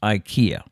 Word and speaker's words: IKEA: an i instead rather pronouncing the word with the e instead of an eye is the correct way to say ikea in swedish mind blown but that's